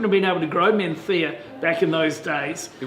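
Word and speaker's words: Mencía: it's It's still my favourite variety to pronounce. Menthea. Menthea. You know why they lisp? Because there was a king many years ago that had a bad lisp, and he was a very popular king.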